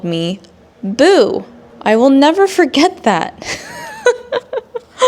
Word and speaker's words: Bo: the first name B like Bo Derek the actress. There's I mean she's famous. This lady should know who Bo Derek is. But she called me Boo. I guess the reasoning for why she pronounced my name as boo is because the word to o is to so b o is boo.